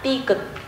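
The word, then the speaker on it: 디귿: not clearly distinguish between t and d when pronouncing ㄷ This consonant is named di-geut We will write it like this A line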